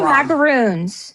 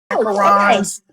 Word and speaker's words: macaron: I say macaroons. Macaroons are the puffy coconut cookies. Macarons.